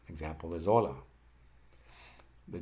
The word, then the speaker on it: hola: The H is always silent. Example is hola.